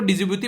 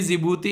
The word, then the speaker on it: जिबूती: ठीक है, इसको मैं काफी दिनों तक मैं इसको डिजिबूती पढ़ा करता था, जब तक मुझे पता नहीं था इसका प्रोनाउंसिएशन, जबकि डी इसका साइलेंट होता है, इसको जिबूती बोलते हैं।